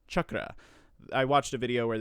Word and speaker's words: chakra: of internet sleuthing and discovered that it's actually pronounced chakra if you want to say it in the more traditional form so technically it can either be said chakra or chakra but in the sanskrit form the more traditional form it is chakra i watched a video